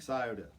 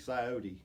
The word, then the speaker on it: Scioto: there's a song called big Scioto or big sigh OT however you want to say whichever state you're from that's how you say it but we cut